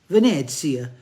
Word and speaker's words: Venezia: No, John, it's Venezia and Firenze.